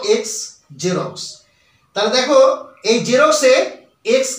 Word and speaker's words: Xerox: কয় দন্তস এয়ে বর্গীজ রশ্মি র কয় দন্তস জিরক্স অর্থাৎ উচ্চারণটা হবে বর্গীচরী র কয় দন্তস কখনোই বর্গীচর